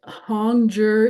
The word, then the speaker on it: Hongzhi: And Hongjur is pronounced Hongjur.